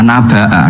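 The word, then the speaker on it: نبأ: Tamim, dalam dialek mereka, kata "story" diucapkan dengan hamzah. " Nabaa", naba artinya cerita. Makanya Amma yatasaalun anin naba itu pakai hamzah kan?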